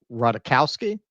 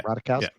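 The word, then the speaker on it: Ratajkowski: Um, however, somebody who is that kind of activist is Emily Ratikowski. That's how you say her name. Yeah. Radikowski.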